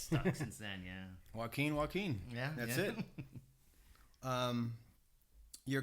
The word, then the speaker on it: Joaquin: My name is spelled Joaquin, but I spelled it in a way people could pronounce it correctly. So WUAKEEN, and it just stuck. It's very unique. Yeah, it's stuck since then. Yeah. Joaquin.